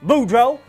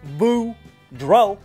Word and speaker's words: Boudreau: hey there kids it's me boudreau that's pronounced boo dro and i'm here to